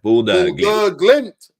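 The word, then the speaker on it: Bodø/Glimt: You say Bodo Glimt. Yeah, Bodo Glimt. That's the 100%.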